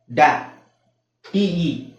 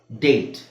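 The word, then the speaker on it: date: ಹೇಳಕಆಗುತ್ತಾ ಇಲ್ಲ ಅದು ಕೇಟ್ ಓಕೆಡಿಎ ಡ್ಯಾ ಟಿಇ ಟೆ ಡ್ಯಾಟೆ ಆಗುತ್ತಾ ಇಲ್ಲ ಡೇಟ್ ಓಕೆ ಸೊ ಅದೇ ತರ ಕೊನೆಯಲ್ಲಿ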